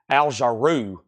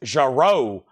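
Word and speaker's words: Jarreau: me I'm mispronouncing aljo I think I used to say jaru Al jaru and they was like no it's jaro Ro like row your boat the first Esquire All-American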